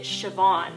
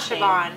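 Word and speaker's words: Siobhan: name by Heritage and he pronounces it sioban and that's like an Irish not Shan I'm so glad because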